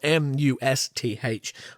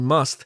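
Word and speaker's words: musth: that affects elephants called musk and I think I'm pronouncing that right it's spelled m-u-s-t-h must bull elephants periodically experience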